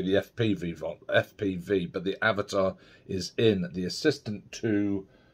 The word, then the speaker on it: Avata: the firmware on your avatar it's pronounced Avatar um rather than avata um what you need